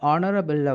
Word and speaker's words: honorable: இதே போலதான் இந்த ஆனரபிள்ல வரக்கூடிய எச்சும் சைலண்ட்.